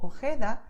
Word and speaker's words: Ojeda: So you just expel the air and that's it, okay? So you feel like the hot air coming out of your mouth. So most Spanish speakers, especially in Latin America, they would pronounce these words as you can hear now. Jalisco, Ojeda, Jipijapa, Tajo, Tajuña, Gerona, Gijón. Okay, and that's totally correct.